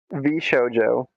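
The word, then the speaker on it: VShojo: Well, so it just keeps getting worse to to How's the company's name getting pronounced? V Showjo.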